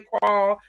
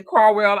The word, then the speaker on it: Carwell: calll Road Carwell Road some people say cwl I say cwell I announc all the syllables hit it so cwell Road that's exit 88